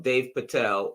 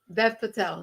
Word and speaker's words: Dev Patel: It's the first directorial debut from Dave Patel, who is also the lead. Dave Patel, Dev. D-E-V, Dev. Dev Patel.